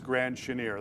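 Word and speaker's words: Grand Chenier: a twitter follower that in fact it is grand chaneer that is the correct pronunciation thank you so much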